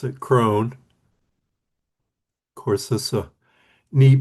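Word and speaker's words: Croghan: It's spelled like Krogan, but they pronounce it Cone.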